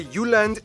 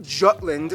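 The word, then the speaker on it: Jylland: full disclaimer ignore wikipedia i'm going to pronounce the location names in their proper danish context so here we go denmark is made of the uland not jutland peninsula that connects to germany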